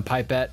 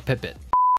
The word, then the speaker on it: pipette: put it straight in using a pipette or as the brits say a pippit why do they what